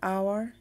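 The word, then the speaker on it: hour: Rule 3, শব্দের প্রথমে অনুচ্চারিত এইচ বা সাইলেন্ট এইচ থাকলে তার পূর্বে অ্যান বসে। যেমন অ্যান আওয়ার, an honest man. এখানে প্রথম অক্ষর এইচ সাইলেন্ট আর পরবর্তী অক্ষর ও দিয়ে শুরু হয়েছে, যেটা কিনা ভাওয়েল।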